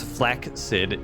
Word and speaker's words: flaccid: location yes exactly and flaccid pronounced flak sid is not the equivalent of limp do you really pronounce flaccid like that oh she's saying